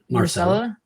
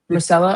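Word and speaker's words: Myrcella: My Marcella. Marcella.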